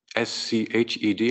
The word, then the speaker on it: Sched: We have a link in there to SCHED, S-C-H-E-D, however, if you're British or not, SCHED or SHED, however you pronounce it. SCHED is the way I pronounce it.